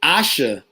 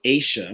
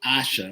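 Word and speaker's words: Aasha: and the actress is asha davis uh you guys were saying asia but it is actually asha which rhymes with sasha okay our podcast um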